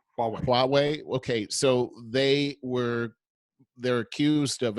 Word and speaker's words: Huawei: company, and I don't know if I can pronounce it right. Is it Huawei? Huawei. Huawei.